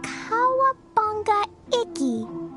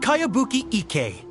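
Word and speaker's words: Kayabuki Ikka: By Kawabunga Iki. Yoimiya, this is a really strange name. Who's this Kawabunga? It's pronounced Kayabuki Ike.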